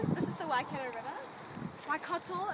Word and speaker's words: Waikato: Waikato, if you want to be pronunciation it right.